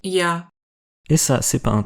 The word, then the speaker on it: Я: Et ça, c'est pas un R à l'envers, c'est Я.